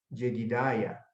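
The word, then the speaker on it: ידידיה: Y el nombre que le dio el profeta fue Jedidiah, como se pronuncia en hebreo, que significa amado de Yahvé o amado de Jehová o amado de Dios.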